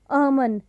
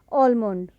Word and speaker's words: almond: So correct pronunciation of this word is almond, not almond.